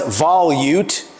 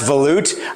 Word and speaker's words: volute: It's not pronounced volute. It's pronounced volute.